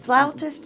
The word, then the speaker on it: flautist: Sarah, is it flautist? Is that how you pronounce it, or is it flutist? Flautist or flutist. It's Okay, either way.